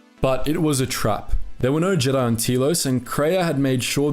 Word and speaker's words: Telos: to believe there was a Jedi Academy on Telos IV , knowing that Nihilus would be unable to resist such a target. But it was a trap - there were no Jedi on Telos, and Kreia had made sure that Surik would